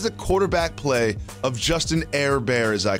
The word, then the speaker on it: Herbert: because i called him air bear air bear is just the first pronunciation of his last name it's not a nickname